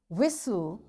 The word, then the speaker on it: whistle: castle or castle often whistle soften hasten bustle and gourmet. There are different words but in all these words T is silent.